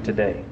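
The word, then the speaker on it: Tadae: His name is actually today, but it's not spelled like T-O-D-A-Y, is it? No, spelled T-A-D-A-E.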